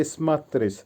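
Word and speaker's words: смотреть: আবার বলছি দেয়ালাচ করা বা ডু ভার্ব স্মাত্রিচ উচ্চারণ হবে ইসমাত্রিস ইসমাত্রিচ এর বাংলা হবে তাকানো বা লুক আবারো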